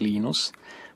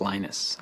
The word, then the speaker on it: Linus: speak Swedish it's Venus when I speak Finnish it's Linus when I speak English it's Linus and I really don't